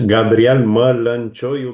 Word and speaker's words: Gabriel Mălăncioiu: Yes, it's Gabriel Mălăncioiu, but your pronunciation was quite good.